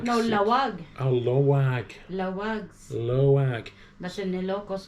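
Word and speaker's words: Laoag: Is it Leoag? No, Lawag. Oh, Loag.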